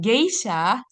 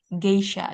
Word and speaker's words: geisha: Nah, khusus untuk ini kata ini kan dari serapan bahasa Jepang. Nah, geisha itu tetap bacanya huruf G, G yang G, geisha. Coba bilang geisha.